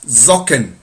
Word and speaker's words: Socken: Socks, socken. It's with S, but it's pronounced with like Z.